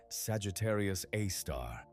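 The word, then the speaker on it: Sagittarius A*: To this day, every astronomer pronounces it Sagittarius A-star, and every paper writes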